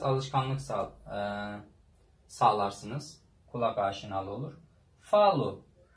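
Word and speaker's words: falo: Gördüğünüz gibi bu parantez içindekiler telaffuzları u diye okunuyor sonda olunca.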